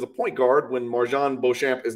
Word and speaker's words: Beauchamp: I really think people need to keep their eye on Marjan Beauchamp, or Beauchamp, I'm sure is how you pronounce it, but I refuse to speak French on this channel.